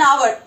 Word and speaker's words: hour: No, it's honest and hour. And H is silent over here. When you write it, H should be over there or your spellings will go wrong. So it is honest and hour.